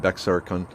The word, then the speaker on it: Bexar: to me hmm okay the x in bexar is silent and bexar okay that's what's fun